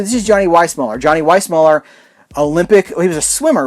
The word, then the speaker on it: Weissmuller: johnny it's why smaller he pronounced it why smaller so i think vice muller is of course correct but he didn't pronounce